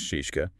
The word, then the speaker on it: Scieszka: Well, John Seiska is pronounced shishka by the way.